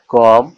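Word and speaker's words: comb: এজন্য এর উচ্চারণ, সঠিক উচ্চারণ হবে কি, বম, কম, থাম।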